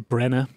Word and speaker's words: Branagh: part 3 of Kenneth Branagh's adaptation. Did I pronounce his name correctly? I just always say Branagh. Branagh. Yeah, I suppose Kenneth that Branagh.